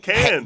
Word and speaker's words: Cannes: That's right, Cannes. Get naked and hang out. But you don't pronounce the S.